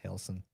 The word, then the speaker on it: Relson: Relson is how it's spelled, but I believe it's pronounced Helson or Elson. All right. I don't pronounce the R.